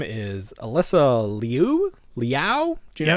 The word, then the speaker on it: Liu: Her name is Alyssa Liu? Liao? Do you know how to pronounce this? Everyone knows. Is it Lou? Yeah. Like Cindy Lou Who?